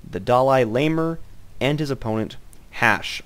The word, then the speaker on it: HasHe: This is the round of 64, a best of 3 series between the DalaiLamer and his opponent, HasHe. I am told he's pronounced Hash.